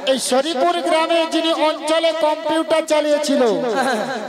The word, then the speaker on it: শ্রী: আরে মাসি ওনার নাম ছিড়ি ছিড়ি নয় বলো শ্রী শ্রী শ্রী শ্রী সিরি সিঁড়ি সিরি সিঁড়ি সিঁড়ি